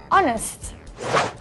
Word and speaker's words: honest: lot of and plenty use and before words that start with the silent h these are nouns like our and Air and the adjective honest so we say an hour and Air and an honest person do not use and